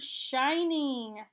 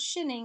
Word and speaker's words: shining: wrestled here's the word shining shining has an ING at the end it replaced the silent e that made the I long okay so that's why it's not shinning it actually had an